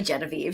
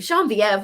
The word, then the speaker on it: Genevieve: genevieve estelle or jean-vive is it genevieve or jean-vielen oh it's definitely genevieve jean-vive where are you getting that from it's the french pronunciation courtney delilah jane and